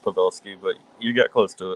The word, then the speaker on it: Pavelsky: We get to talk to Pavalleski. I should have asked if I am pronouncing that right before the show. It's completely fun. It's so pronounced Pavvelski, but you got close to it. Pavvelski.